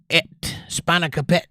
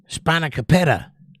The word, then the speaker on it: spanakopita: Spanakopeta, Jake. Spanakopeta, got it. Spanakopeta. I would not have figured that's how you pronounce that word with the long O there after the P, or before the P, but learn something new every day.